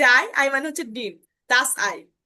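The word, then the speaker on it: Ei: এটাকে মনেও রাখলেন যে হ্যাঁ, এবং ই যখন একসাথে বসবে তখন তার উচ্চারণটা হবে আয়ের মতো করে।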